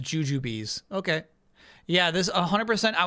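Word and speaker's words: Jujubes: Obviously, Kyle, the B implies they're pronounced juju bees.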